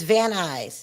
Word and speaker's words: Van Nuys: It's Van Nuys. He laughs. Oh, a lot of people, unless you're from LA, don't know how to pronounce Van Nuys. Because it's not spelled Van Nuys.